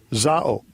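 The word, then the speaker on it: ζάω: and you can actually listen to how it's pronounced. Strong's G 2198. Zao.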